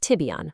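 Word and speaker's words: Tibyan: By 2026, we're aiming to achieve 50% of the planned AI use cases on our Tibian, that's pronounced Tibion, platform.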